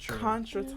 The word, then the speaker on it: contretemps: It's contretemps. Like contradiction. Contretemps. No. It is not spelled how it's pronounced.